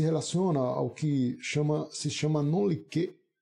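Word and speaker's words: non liquet: Então, a ideia se relaciona ao que se chama non-liquet. Alguns chamam noliquet, eu prefiro a expressão non-liquet, relacionando a pronúncia em francês, parecida, semelhante, né? Non-liquet, que significa você deixar de julgar a causa porque existe uma lacuna.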